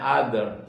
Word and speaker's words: other: Ee yang lain dalam bahasa Inggrisnya the other tulisannya ter bacanya other.